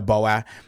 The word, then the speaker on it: Bowyer: It's It's Bowyer. It's Bowyer.